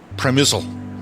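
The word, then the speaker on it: Przemyśl: It's spelled P-R-Z-E-M-Y-S-L. I thought at some point it was Przemysl, but it's actually Przemysl or something to that effect.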